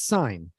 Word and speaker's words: sign: in this exercise, because if it's just S-I-N-G, it's sign. But if it's S-I-G-N-A-L, it's signal. You actually say the G.